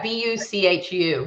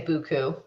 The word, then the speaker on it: buchu: So is it spelled buchu? Yeah, buchu. But in Australia we say buku.